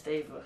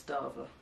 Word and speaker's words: Deva: gay I'm a stable okay it's Deva some people say it's Darva second question what's my